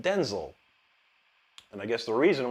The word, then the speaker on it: Denzel: He said his name is not pronounced Denzel; it's pronounced Denzel.